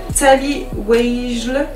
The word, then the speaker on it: Tally Weijl: Elle s'appelle Tally Weijl. Tout ça s'écrit W-E-I-J-L.